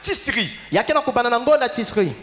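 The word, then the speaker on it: Tichri: Et bien, le calendrier juif commence ici par là, le mois de Tisri. Tisri. T. T. I. I. C. C. H. H. R. R. I. I. Maintenant, la prononciation c'est celle-là. Alors l'écriture, à la place de CH, parfois on met SH.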